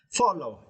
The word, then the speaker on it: follow: for this works as you need to stress the first syllable four four right follow it is so easy